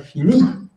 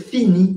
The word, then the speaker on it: fini: Y dos, siempre va a tener el acento tónico, siempre va a sonar fini. Nunca se va a decir fini en francés, eso no va a existir.